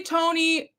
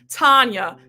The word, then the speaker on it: Tanya: I butchered your name. I for Please forgive me. Tanya. Tanya. Oh my gosh. So, I don't know WHERE I GOT TONY FROM.